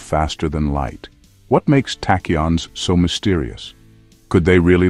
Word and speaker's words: tachyons: Tachons, pronounced tachons, are hypothetical particles.